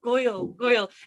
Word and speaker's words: Gŵyl: Oh, Gŵyl. It's actually really funny enough. It was a confusing word for me to learn, because I live near the river Wye, which is the River Gwy in Welsh, GWY.